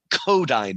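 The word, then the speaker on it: Kodály: So my daughter teaches music and they sometimes use the kodai method. It looks like kodaly but it's pronounced kodai.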